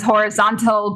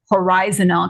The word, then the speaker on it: horizontal: it is spelled correctly I know there is a school of thought that says horizontal but I stick with horizontal because it does match with Horizon anyway and that could